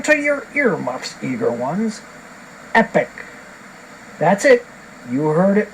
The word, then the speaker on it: Epic: whoa wipe it out it's Epic here it rhymes with weapon which like most of